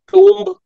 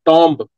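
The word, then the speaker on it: tomb: ही got constructed Sultangarhi टूम्ब। इसका जो pronunciation होता है इंग्लिश वालों, ये होता है नॉट टॉम्ब, इट्स टूम्ब।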